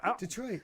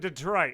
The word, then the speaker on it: Detroit: She said it Detroit. It's Detroit. I say it wrong. I say it Detroit. I say it like He says Detroit. Yeah, I say it like Detroit. I don't know why I say it like that. You've been watching too many basketball games.